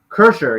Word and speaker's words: Kreischer: I guess uh or breaks the law whatever cursor yeah that's how you say his name great